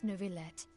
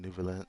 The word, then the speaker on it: Neuvillette: about whether the cases are treated with due reverence, we have the absolutely just and honorable Chief Justice Neuvillette. Ah, so that's how you say it then, Nouvelette.